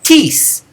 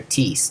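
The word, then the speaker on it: τις: This one doesn't have a written accent, but is pronounced with it.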